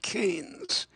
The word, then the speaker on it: Keynes: of the 1930s and John Maynard Keynes rhymes with brains and he certainly had